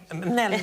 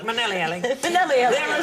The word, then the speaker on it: Minnelli: Minnelli. I was put in an extra syllable. Minnelli.